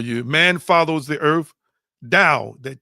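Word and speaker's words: Tao: Dao, that T is pronounced as as a D and I've been mispronouncing it.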